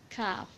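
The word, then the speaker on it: ك: So when aqsul lisan touches the combination of hard and soft palate, it will be pronounced kaf. There will be pronunciation of kaf. It's like that, ak, ik, uk.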